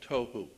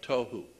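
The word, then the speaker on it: תֹהוּ: Pronunciation, it would be T-O-E hyphen W-H-O, tohu. That's not the way it's spelled in Hebrew, but that's the way it's pronounced. T-O-E W-H-O, tohu.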